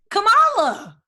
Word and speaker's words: Kamala: it we are telling you it is highly pronounced kamala okay anyway kamilah that she's the first woman